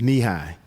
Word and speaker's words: Nehi: No, knee high is NEHI. It's a fruit flavored drink. By the way, it's pronounced knee high.